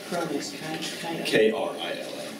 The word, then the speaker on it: Krill: Mine is, at Krill, K-R-I-L-L, .com. That's pretty easy. Yeah. K-R-I-L-L, like the little shrimp.